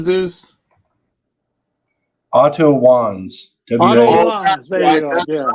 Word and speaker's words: Otto Wanz: I can't even pronounce his name, Otto Schwartz. Oh, what was his last name, Zeus? Otto Wanz.